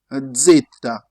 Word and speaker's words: zeta: Zeta. Try to join your teeth up and down.